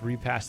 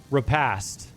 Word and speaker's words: repast: Oh yeah, like I Google it and the second result is repass funeral. Am I saying it right? Repost. Oh god. Repass. Repast. Repass. Repast. Repast. Repast.